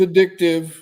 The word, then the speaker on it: addictive: Not accent on the dick either, because a lot of people say that. But it is addictive.